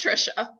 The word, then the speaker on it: Trisha: your name wrong so is it tricia trisha remind me again i'm sorry it's trisha thank you i thought it